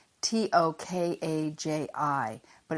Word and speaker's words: Tokaji: do you have any tokay and they'll be like are you looking forward to a chi because we're American and we mispronounce everything but it is Tokai here in America and if you like